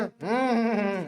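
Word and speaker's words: neigh: जैसे कि sound of horse जो बोलता है ना हम ऐसा वाला जो साउंड रहता है ना घोड़े का। ठीक है? उसे बोलते हैं अपन ने। इसको प्रोनाउंस क्या करते हैं? नेह।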